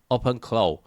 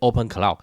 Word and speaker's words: OpenClaw: OpenClaw You can't even pronounce it as "open cloud" They were trying to ride on that "cloud" buzz Got warned to change the name, to what, "claw" Said you specifically have to pronounce it this way But whatever, they wanted